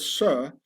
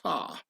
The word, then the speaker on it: sir: This is why in posh upper-class British the word sir has to be pronounced sar, and not sir, yes sir, to show one's solid origins.